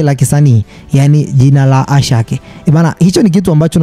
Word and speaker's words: Asake: ndio hilo hilo anaitwa Ashake yaani jina sisi kwetu tunasema kwamba ni Asake ila linatamkwa Ashake ni jina la kike